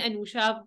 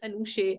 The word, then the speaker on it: Anusha: married wrong as well they call me Anusha for some reason also my spelling is very clear it's an usher I spent half my life